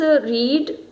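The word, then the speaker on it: read: कोई डिफरेंस नहीं होता, लेकिन हम जब प्रोनाउंस करते हैं तो प्रोनाउंसिएशन में इसकी जो प्रोनाउंसिएशन है वो क्या हो जाती है, सेकंड या थर्ड फॉर्म में रेड।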